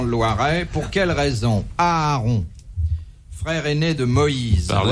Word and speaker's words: Aaron: Pour quelle raison Aaron, frère aîné de Moïse. Parlez Ouais. à sa place. Aaron, tout simplement. Aaron, frère aîné de Moïse. Oui. Un peu pas son Aaron?